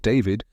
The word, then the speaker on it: d4vd: His stage name, pronounced David, was just a stylized version of his government name.